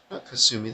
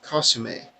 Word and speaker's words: Kasumi: if Kasumi was her Kasumi that's not how her name is pronounced costume a the costume a wasn't